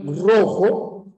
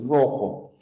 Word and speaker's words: rojo: tienes la palabra rojo esta r de rojo fíjate la r a qué se parece en pronunciación a la r de pero o a la r de perro A cuál de las dos se parece en la pronunciación a la r de perro por supuesto No el perro rojo perro rojo Solo que por una razón ortográfica ya una regla ortográfica Ninguna palabra empieza con doble r no es una razón